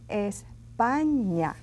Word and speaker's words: España: And here, this is the way we pronounce it, España.